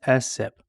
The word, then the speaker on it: SSIP: State systemic Improvement plan most people pronounce ssip as sip the essip provides an